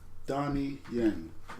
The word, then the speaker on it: Donnie Yen: At number 4, I have Donnie Yen. Is that better pronunciation for you guys?